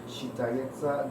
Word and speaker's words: считается: You have to say считается, right? S-che, but you don't say считано. Счита, alright? Считается.